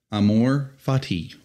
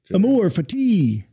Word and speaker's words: Amor Fati: Did we get the pronunciation right? Ah. Gabe, how do you say it, son? Amor Fati. Okay, you're in agreement with me. Amor Fati.